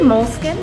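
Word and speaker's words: Moleskine: How do you pronounce the name of the store correctly in English? Well, they say moleskin.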